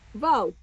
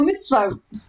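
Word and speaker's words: מצוות: Vote. Okay, now put that in that word. Mitzvot. Oh, mitzvot. Yep. What? Vote. Almost. It's bih like the I in it. Bih. Mitzvot. Yep.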